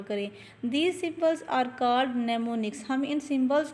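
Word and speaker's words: mnemonics: नजर आ रहा है एम एन ई एम ओ एन आई सी एस यह वाला इसको एम साइलेंट है हम इसको पढ़ेंगे नेमो निक्स फॉर एग्जांपल सब इंस्ट्रक्शंस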